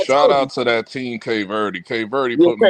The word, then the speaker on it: Cape Verde: I'm a Captain Verde. I'm like, oh, sit your Wow. You didn't even say it right. Cape Verde.